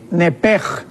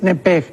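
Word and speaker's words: נפש: nepesh, pero la CH en el hebreo se pronuncia como J. Entonces podríamos decir nepej, con J. Entonces, la palabra alma en el original es nepej.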